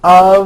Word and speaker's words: of: spelled with an f we pronounce the word of with a voiced v i know this sounds crazy but it's true for example statue of liberty and notice how